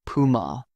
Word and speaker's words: Puma: I notice people say Puma with stress on the U. Germans pronounce it Puma.